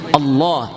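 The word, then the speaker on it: الله: അല്ല അത് ശരിയാണ് കുഴപ്പമൊന്നുമില്ല പക്ഷെ അതിന്റെ ശരിയായ ഉച്ചാരണം ആ ജലാലിയത്തിന്റെ അല്ലാഹുവിന്റെ ഇസ്മുൽ ജലാല ആ മഹത്വപ്പെടുത്തുന്ന അല്ലാഹുവിന്റെ വാക്കിന്റെ മഹത്വം വരാൻ വേണ്ടി അള്ളാ അള്ളാ എന്ന് പറഞ്ഞ ലാ എന്ന് എവിടെ നാവുകൊണ്ട് പറയുന്നുണ്ടോ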